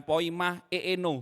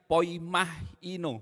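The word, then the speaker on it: ποιμαίνω: Poima, ini bukan poima eeno, bukan gitu ya Kodev ya. Terima kasih Pastor Diki. Ini bacanya poimahino, benar ya Kodev ya. Jadi jangan eeno, kalau eeno nanti keluar yes saudara-saudara ya kan.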